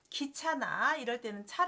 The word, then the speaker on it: 車: 사람 의 움직임 으로 작동 될 때 는 'geo' 로 읽힙니다 . 예 를 들어 , ' 자동차 ' 나 ' 기차 ' 는 모터 를 사용 하기 때문 에 'cha' 로 발음 하지만 , ' 인력 거 ' 나 ' 자전거 ' 는 'geo' 로 발음 합니다 . 글자는 같지만 발음 이 다르니 구별 해서 읽어 주세요 .